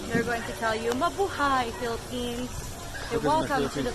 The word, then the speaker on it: Mabuhay: Home by? No. What is? How do you say it in the home by? Mabuhay. Buhay. Mabuhay means welcome.